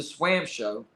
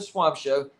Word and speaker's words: Swam Show: uh but anyways so I mispronounced I mispronounced the swam show not the swamp show and so he sent